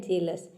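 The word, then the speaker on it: jealous: जेलस में भी देखिए हम EA को A प्रोनाउंस कर रहे हैं, तभी इसका प्रोनाउंसिएशन होता है जेलस।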